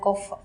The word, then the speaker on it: Goforth: biology and this afternoon we have Dr gopher is that right yes I'm pronouncing it right now very good yeah she